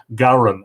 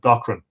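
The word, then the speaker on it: Gaughran: And Paul Gowran, whose name is spelled Gaughram, likes the fact that I've learned to pronounce his name as he would pronounce it, Gowran instead of Gochran.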